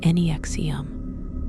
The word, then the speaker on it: NXIVM: NXIVM, pronounced Nexium, was founded by Keith Raniere, a man who presented himself as one of the smartest people in the world.